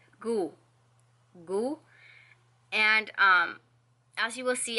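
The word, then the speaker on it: god: translated so to say good you say goo goo and as you will see on screen you it's spelled G OD but you don't pronounce the D it's just I don't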